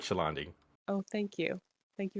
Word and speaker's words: She'landi: i uh i really i always say shalondi because i'm lazy but i always want her to be pronounced like shay londy because it sounds more elegant but i'm always lazy